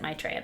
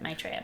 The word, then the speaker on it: Maitreya: And I don't pronounce it Maitreya, but that's how the Buddhists pronounce it, Maitreya. My parents pronounced it Maitreya, so that's what I say.